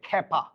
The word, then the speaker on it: ক্ষ্যাপা: ক্ষ্যাপা দুর্বাসা এখন দেখেন শুরুতে খে থাকলে এটা খ উচ্চারণ হবে ক্ষ্যাপা আমার কথা কি বোঝাতে